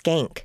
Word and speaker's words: Schenck: Okay, so I think that his last name's pronounced Skank.